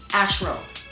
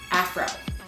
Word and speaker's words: afro: I had short hair, as you guys know, and I thought it was pronounced ashro as opposed to afro.